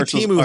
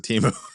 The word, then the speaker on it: Temu: Seth Meyers didn't learn because he still pronounced it Timu. He did. I noticed that. Yeah. So it's really Temu? It's really Temu, Oh, apparently.